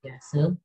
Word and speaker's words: Piaget: Jadi Piaget itu tulisannya itu Piaget ya, dibacanya Piaget.